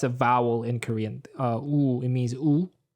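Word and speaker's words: ㅜ: vowel in korean uh ooh it means it's it's basically you pronounce it the way you do w-o-o um the thing about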